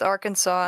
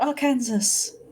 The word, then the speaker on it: Arkansas: get fed up with Arkansas and Kansas what do you mean is not AR Kansas say America explain why is it why is it Arkansas can you guys say